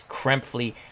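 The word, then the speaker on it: Krepfle: his name again because i'm so used to mispronouncing it but it's kremphley i greatly appreciate that uh neil or knelp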